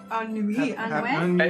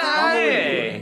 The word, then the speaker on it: année: And bonne ennui. It's spelled A-N-N-E-E. There is no way that is pretty. Sorry, guys.